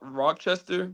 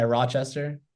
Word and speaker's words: Rochester: are okay yeah we're going to um rock rockchester how you say it yeah Rochester Rochester yeah yeah we're going out there so